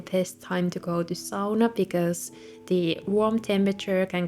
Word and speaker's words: sauna: nails and going to sauna and yes that's actually how you pronounce it in finish not SAA having a bathtub is